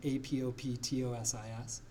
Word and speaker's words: apoptosis: death is called apoptosis some people pronounce a8 pop ptosis because it's about AP opt OS is how do they say it in the bio chem Department they say apoptosis I say a pitocin so so it occurs